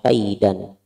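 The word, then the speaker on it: كَيْدًا: Tadinya harus tulisannya kaidan, tapi bacanya dirubah jadi kaida, hukumnya adalah mad iwad, bacanya kaida.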